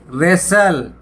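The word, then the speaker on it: wrestle: रेसल, कुश्ती, यहाँ भी डब्लू साइलेंट है।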